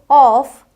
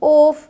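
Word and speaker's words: off: जॉब टॉप रॉड नॉट अब देखिए शुरू में आ जाए तो ऑफ ऑड अब हम इसे ओड ओफ नोट रोड नहीं बोलेंगे ऑ करके बोलना है बोल बोल कर प्रैक्टिस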